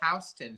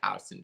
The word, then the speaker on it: Houston: neighborhoods in new york soho and noho are south of houston street and north of houston street and you pronounce that house then no one needs to